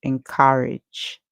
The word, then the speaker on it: encourage: The A makes a sound, the E at the end is silent. The G, because it comes before E, it makes a sound like J. So we hear N, K, ow, and cow, and we hear age, encourage, encourage.